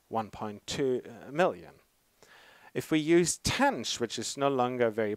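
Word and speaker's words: tanh: It's often pronounced as TENSH.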